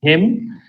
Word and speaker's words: hymn: You sing hymns. Yeah? Oh, You heard of that? No? no. Okay. If you sing Christian song, it's called hymn. So it's pronounced hymn, HIM, but it's spelled HYMN.